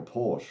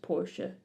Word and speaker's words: Porsche: So I was right that I was like, it sounds German. That's because it was founded in 1931 by Ferdinand Porsche, who is German. Oh, Porsche. So it would actually be pronounced Porsche.